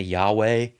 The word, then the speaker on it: Yahweh: And so we kind of guess that it might be pronounced weh at the end. And it's 3 dots, Yahweh. So we say Yahweh, and I will say that.